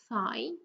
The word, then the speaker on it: thigh: The GH is silent in the next one, so as I've told you many times already, it's just th and I, thigh.